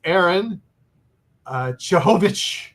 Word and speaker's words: Harun Cehovic: But it is, believe it or not, it can be pronounced the English way as Harun Cehovic.